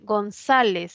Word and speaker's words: González: González es una palabra grave que termina en Z.